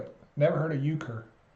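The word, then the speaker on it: euchre: a lot better now it's pronounced ukur never heard of it never heard of uker it's a card game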